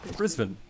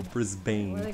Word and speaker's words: Brisbane: finds out i'm australian wait how is it pronounced again brisbane brisbane but americans read the word and they go brisbane i don't know our kansas arkansas nobody even